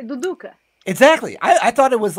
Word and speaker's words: Duduka: yeah, it's called Duduka.